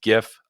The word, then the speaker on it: GIF: I pronounce it with a hard G. All you soft G GIF people out there, I don't know what a GIF is outside of peanut butter. It's GIF.